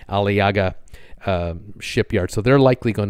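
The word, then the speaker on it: Aliağa: It's going to Ismir, and just north of Ismir is a shipyard specializing in scrapping ships called the Alaiga. It's A-L-I-A-G-A, that's how it's pronounced or spelled, Alaiga.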